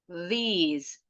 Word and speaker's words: these: The, this, that, these, those. Perhatikan bunyi S-nya. These sama those, bunyi S-nya seperti Z. Emang Z ini, bunyinya Z.